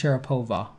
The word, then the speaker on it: Sharapova: to go with its syrup over you it's pronounced sharapova wow that's so evil that you would say